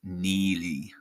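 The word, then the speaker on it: Neagley: Uh I think uh yeah, unfortunately Duffy is slated to be an English partner in Ethics off pronounced Neely.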